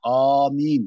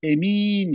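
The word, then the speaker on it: آمين: Meddü elifihi ve kasruha. Birinci lehçeye göre elifi med yapılır. Yani amin diye okunur. Ve kasruha ve elifi kasrıyla yani emin şeklinde.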